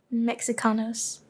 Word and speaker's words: Mexicanos: The she is no, the X is pronounced like she in Nahuatl, which is like it's still is it still spoken?